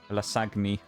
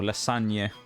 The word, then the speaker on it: lasagne: Lasagni. I remember it. Or lasagne, which is how the Italians kind of pronounce it, of course. That kind of nyeh sound at the end.